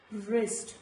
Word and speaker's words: wrist: Like in all these words, it is wrist, not wrist, wrist, wrapper, not wrapper, wrap, wrinkle, wrestle and all these words, letter W is silent.